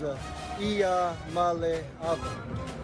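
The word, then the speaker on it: Iamaleava: malava and uh the the correct way to pronounce my last name is a Iya M super helpful super helpful M Trevor give me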